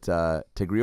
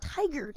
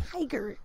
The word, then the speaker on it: Tigard: go up to Tigray for a little bit, Tigray, Oregon. Isn't that what it's pronounced? Tigray? Isn't that how you pronounce it? Is that where you're from? Tigard, Adam. Oh, Tigard. Tigard.